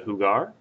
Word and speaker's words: jugar: right one okayo Hugon so that's how you pronounce the ver hugar and we're going to use it to talk